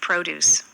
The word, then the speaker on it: produce: और इसका प्रोनाउंसिएशन क्या रहेगा? देखिए, The store has a wide variety of produce. क्या कहा उसने? प्रोड्यूस। The store has a wide variety of produce. यानी कि प्रोड्यूस भी नहीं बोला उसने कहा ड्यूस को हल्का।